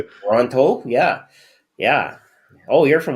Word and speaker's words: Toronto: Because you get one T even though there's two in the word.